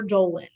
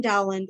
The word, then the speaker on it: Dowland: on the other hand we've got dowling or doland you can say it either way people like literally people fight about how to pronounce his name which i think is like the dumbest fight we could possibly have but uh there you are so john dowland or dolan now what distinguishes dolan